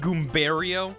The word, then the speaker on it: Goombario: It's pronounced Goombario.